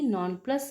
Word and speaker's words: nonplus: Non-plus rhymes with thus.